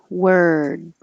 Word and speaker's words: word: r noise worm and the same here word word but now you're finishing with your tongue in the d position word and if you